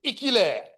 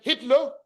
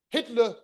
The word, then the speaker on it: Hitler: to fight this war caused by somebody called Ikiler. It's most likely what happened is that some of the people who were wounded came back and they mispronounced the name Hitler or Hitler.